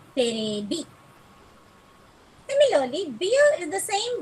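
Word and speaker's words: テレビ: So the televi, the V in televi becomes B. It gets converted to B. So it becomes on the whole not televi, it's terebi.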